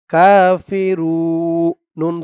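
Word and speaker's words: كافرون: নুন জবর না কাফিরুন এখানে অকফ করার কারণে পেশের পরে ওয়াও সাকিন এক আলিফ টানটা তিন আলিফ টান হয়ে গেছে রু বলে তিন আলিফ টান দিয়ে এই নুন কে ধরতে হবে নুনের উপরে জবরটা সাকিন হয়ে যাবে কাফিরুন তিন আলিফ টান মধ্যে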